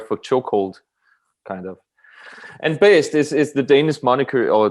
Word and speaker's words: Baest: I think I think it's closest to BASED. That's kind of like the closest I've heard to it.